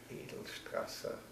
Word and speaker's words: Edelstrasse: Yes, Fräulein Edelstrasse was my first you better spell that. teacher. Edelstrasse, so edel like in noble, E-D-E-L, and Strasse must be from Strasse, S-T-R-A-S-S-E-R, Edelstrasse.